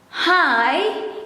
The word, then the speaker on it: hai: start it in indonesian hai is also pronounced as high but the way you write it is with a and i hi and dia